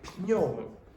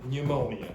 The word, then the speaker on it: pneumonia: You don't want to say pneumonia. Okay. So, pneumonia in English.